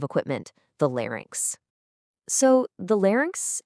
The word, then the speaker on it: larynx: So, the larynx, and this one is pronounced larynx, is pretty much your body's own built-in music studio.